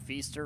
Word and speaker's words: Feaster: Right side, Feaster rhymes with Easter, 671.